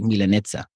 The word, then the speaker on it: Milanezza: Okay, so the right way to say Milanesa, instead of saying Milanesa like an actual Milanesa, I'm supposed to Right. say Milanezza. Yeah.